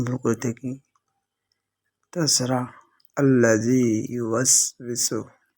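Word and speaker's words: يُوَسْوِسُ: ওয়াসওয়িসু এই জায়গায় আমরা ওকে এমন ভাবে পড়ি, হামজার মতো শক্ত করে ফেলি। আর ওটা যেহেতু দুই ঠোঁটের গোল আকৃতি হতে উচ্চারিত হয়, সেক্ষেত্রে আমরা ওইভাবে উচ্চারণ করতে পারি না।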